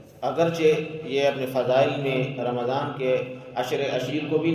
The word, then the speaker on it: رمضان: نام بھی رکھتے ہیں، لیکن رمضان بولتے ہوئے ہم اس کا صحیح تلفظ نہیں کرتے ہیں، ہم رمضان بولتے ہیں۔ رمضان عربی میں رمضان نامی کوئی چیز نہیں ہے۔ شہر رمضان، میم کے اوپر زبر ہے، رمضان۔ تو جس کسی کا